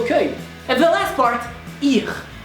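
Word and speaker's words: hier: So even though it's written like an IR, you need to pronounce it as if it was an E, because you pronounce I as E and E as I. So, I. And then a French R. R. I and R. Ir. Or you can just say here, but without the H.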